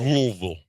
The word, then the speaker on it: Louisville: a fan of Louisville it was Louisville louville rouville that's how you say it 9 9:30 ESPN